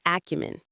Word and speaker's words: acumen: must have great business acumen without a doubt. Let's look at the pronunciation business acumen. Business acumen. The stress on acumen is on the first syllable.